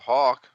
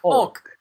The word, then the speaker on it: Hulk: Oh, Hulk. Sorry. I thought you said Hawk. I say that a lot. I don't pronounce Hulk correctly. Hulk. Just say it like that.